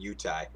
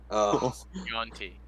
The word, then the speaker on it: Yuan-ti: we're completely sleeping on Kilios being a fucking Utah. A one You are. Yuan-ti.